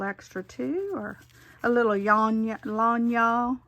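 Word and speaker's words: lagniappe: too, or a little lanya is, I think that's how you say it, Carrie, is that right? Means a little extra. I learned that from her, a Cajun word.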